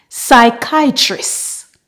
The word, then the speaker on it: psychiatrist: silent p in English words that typically start with Psy have a silent p and the first part is pronounced Sai for example psychiatrist Psych psychologist psychic psychology